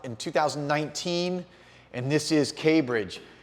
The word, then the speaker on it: K'Bridge: And look how K Bridge is spelled. It's not Cambridge, but K, the letter K, Bridge.